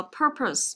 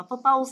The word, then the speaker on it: purpose: Các bạn chú ý cho cô cái từ này đừng đọc là purpose nhé chưa? Mà chúng ta sẽ đọc là purpose. Đấy, purpose. Đấy, đừng đọc là purpose nhé. Đấy, purpose. Đây cũng là âm ơ ngắn này. Còn đây là âm ơ dài này.